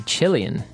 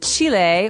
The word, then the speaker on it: Chile: a Brazilian and a Chilean. Okay, so Brazilian. In this country, there are many Brazilians. And Chile, or Chile, as many Americans say, has people called Chileans.